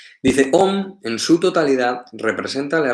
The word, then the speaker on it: Om: Entonces, se escribe A-U-M, se pronuncia Om. Aunque a veces hay algunos maestros que indican o que recitan o que cantan, recitan Aum.